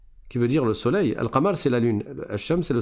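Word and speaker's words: القمر: Une lettre lunaire après un alif lam, c'est une lettre dans sur laquelle il n'y a pas de shad comme le et dans ce cas-là, tu vas prononcer le lem. Tu dis elka là par exemple, je sais pas si vous arrivez à lire, je vais le réécrire là. Alqamar. Donc là je prononce le lem.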